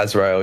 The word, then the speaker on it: Azrael: Lucid with another rapper called, is it Paul Azrael? Is that how you pronounce it? Yeah, Azrael, yeah.